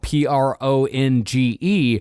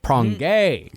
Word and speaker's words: Pronge: as well, that his name was spelled Pronge. Pronge. When in reality, it's Prongay.